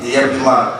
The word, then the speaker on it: Liyeplimal: Je leur dis, tous ceux qui voudront travailler avec nous vont apprendre à appeler Yeblimal. Voilà un Philippien qui prononce bien Yeblimal. Voilà les Malgaches qui prononcent Yeblimal. Tout le monde prononce Yeblimal.